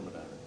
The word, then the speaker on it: Medina: And am I saying it right? Medina or Medina? It's Medina.